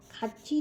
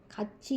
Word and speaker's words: 같이: खाची जो वर्ड है वो खाची, ये थियत फॉलोड बाई ईंग होता है, वो थोड़ी ये च प्रोनाउंस होता है इस केस में, हमेशा इसे खाची पढ़ा जाता है.